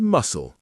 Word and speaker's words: muscle: We also have island with a silent S, biscuit with a silent U, receipt with a silent P, and muscle with a silent C.